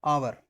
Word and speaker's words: hour: जैसे मैंने लिखा है HOUR, आवर, तो इसे हम बोलते हैं ओवर, आवर बोलते हैं ना इसको।